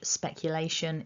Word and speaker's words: speculation: four syllables and that our primary our main stress is on syllable three lay lay so that's